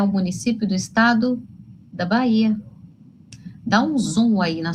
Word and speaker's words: Bahia: Mas a gente fala esse H? Não. Bahia. Esquece o H.